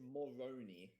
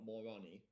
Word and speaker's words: Moroni: It's Moroni, though, not Moroni.